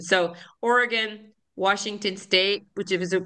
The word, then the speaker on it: Oregon: to remember they'll say do you want a knife or a gun that's how they have you remember the pronunciation so Oregon Washington state which is